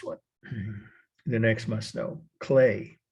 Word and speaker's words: Klee: The next must know, clay. I know it looks like Klee, but it's German, so it's pronounced clay.